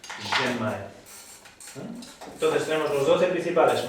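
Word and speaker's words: Ren Mai: T, Tumae, y el Genmae, aunque se escriba con una R, sí, suena como una J, ¿no? Una J suave catalana. Genmae.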